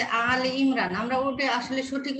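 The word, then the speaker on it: آل عمران: সূরা যে আলে ইমরান, আমরা ওটা আসলে সঠিক উচ্চারণ করব কি?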